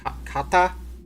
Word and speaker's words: kata: I learned in my particular school was how do you pronounce it? Kata.